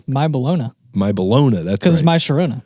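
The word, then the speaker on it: My Bologna: recorded or how do how do you Weird Al fans pronounce it that was my balona my balona that's my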